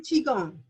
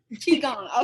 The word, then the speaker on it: qigong: Help me pronounce it. Actually, Qigong. Qigong.